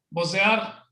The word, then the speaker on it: bocear: Yo pienso que esto se pronuncia bocear. Con O, así.